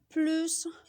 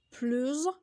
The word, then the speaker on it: plus: bonjour à tous j'espère que vous allez bien plus pleut plus ce sont des mots qui s'écrivent pareil mais